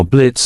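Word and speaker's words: Blitzø: then we see how Blitz and Moxie met so what are you in for okay not much of a talker are we yeah I'm Blitz the O is silent now I'm sure we're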